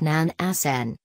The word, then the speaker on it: Nansen: Fridtjof Nansen, pronounced Fridtjof NAN-sən, wore many caps during his lifetime: scientist, explorer,